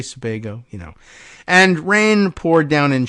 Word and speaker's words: Sebago: Several months earlier on the same campus, as fog enveloped Sebago Lake, do I have the pronunciation? Sebago. You say Sebago, and rain poured down in sheets, a larger